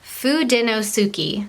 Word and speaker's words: Fudenosuke: even pronounce these pens they are fudenosuki just like it looks i know it's kind